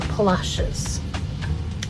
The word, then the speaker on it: Palacios: to our volunteer assignment at Palasias or if you're local palashes. Couple of different pronunciations. Well, here we are arriving in Palacios, Texas. Well, or as locals would say, Palashes. A number of ways to pronounce it, that's for sure.